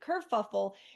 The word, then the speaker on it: kerfuffle: I actually had heard the word before, I've used it, but I thought there was another L in there. So I've been saying it wrong for however long I've heard it. But kerfuffle, it's a hard word